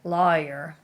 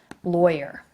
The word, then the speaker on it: lawyer: word right here lawyer some people will say lawyer lawyer and other people will say lawyer so you can say it see it spelled phonetically two different ways in the dictionary here here's the way I say it right here lawyer okay L I say it with like an oi sound lawyer okay my dad